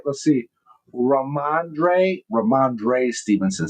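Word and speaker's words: Rhamondre: Uh uh Ramande Ram Stevenson. Did I say it right? Let's see. Raandre Raandre Stevenson says he knew I was pretty close.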